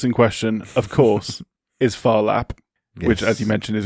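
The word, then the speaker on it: Phar Lap: The horse in question of course is Farlap which as you mentioned is a great name. That's spelled P H A R L A P.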